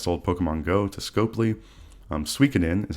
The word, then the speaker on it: Suikoden: Suikoden is how you pronounce that game, and the remaster of 1 and 2 is out right now for Suikoden.